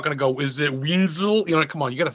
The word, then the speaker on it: Wenzel: Did I say your last name right? Wenzel? Is that how you say it? Yep. Actually, I'm surprised you got it right.